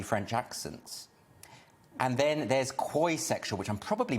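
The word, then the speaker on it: quoisexual: aroused by dodgy french accents and then there's koisexual which i'm probably mispronouncing q-u-o-i quoi sexual which is when you don't identify with any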